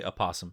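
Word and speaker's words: opossum: clutch is it posum do you pronounce the O and aasum well I just looked it up yes you do say aasum I actually have one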